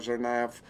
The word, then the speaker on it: Tsarnaev: I can't pronounce their last name. Tsarnaev.